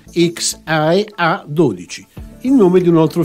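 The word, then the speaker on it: X Æ A-12: paragonato extra SH 12 ovvero pronunciando in italiano xia A12 il nome di un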